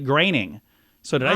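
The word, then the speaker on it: Groening: you want to say groaning but the Oe uh his name is more like an ay making the correct pronunciation like graining so did I say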